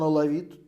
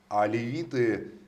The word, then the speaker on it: Алевит: Он алавит, то есть он не мусульманин. Алевит, только не алавит, а алевит.